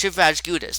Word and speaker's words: Shivraj Gudas: name, of course, but how I pronounce it is different than how you pronounce it. I don't feel like saying my name, in real life, even though I did. But it's Shivraj Gudas.